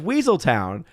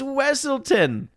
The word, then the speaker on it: Wesselton: his character is that they're constantly mispronouncing his name and they keep saying oh yeah it's the Deep it's the Duke of weaseltown he's like it's wesselton so in zootopia he